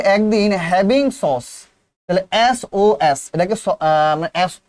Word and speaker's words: SOS: এটাকে বলতে হবে SOS। কি বলতে হবে স্যার? SOS। সস বলা যাবে না, বলতে হবে কি বলতে হবে স্যার?